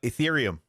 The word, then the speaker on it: Ethereum: need what's called what i don't want to say this word wrong i always say it wrong your wreath your oh uh ethereum ethereum that's it so you convert your